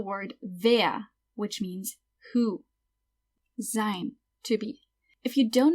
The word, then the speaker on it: sein: If you don't know much about how to pronounce different letters in German, every time you see an E-I or EI, it's pronounced I. So that's why this word is pronounced sein.